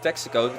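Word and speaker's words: Texaco: it Texico uh yeah I think should pronounce it like Texico Texico premium diesel premium diesel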